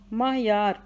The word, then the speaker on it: معیار: سنسکرت ہوگا صحیح لفظ۔ معیار، میم کے اوپر زبر، عین ساکن، یہ کے اوپر زبر، الف بھی ساکن، رے بھی ساکن، معیار۔ میم زبر ما، عین زبر، میم زبر عین ما، یہ زبر الف یا، رے ساکن، معیار۔ صنعت ہے، صاد کے